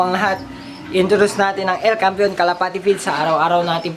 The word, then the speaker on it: El Campeon: El Campeon Pigeon Feeds, yun ang tamang pronunciation mga kalapati.